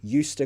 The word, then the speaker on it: used to: we continue pronunciation I used to go outside listen to how I said that used to I'm gonna write the phonetics some of you love